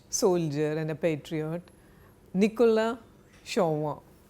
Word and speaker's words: Chauvin: Next word is shauinism which comes from the name of a French soldier and a patriot Nicola Shawa. I'm giving you the French pronunciation shawa.